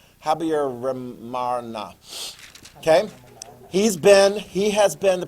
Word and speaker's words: Habyarimana: Okay, I can never get his full name pronounced correctly, but I do believe it is Habyarimana.